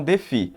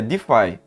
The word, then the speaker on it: DeFi: de você pronunciar ela Alguns falam deve outras outros falam de fi porém a pronúncia que é mais utilizada aí pelos brasileiros também e lá fora é Defy o Defy ele é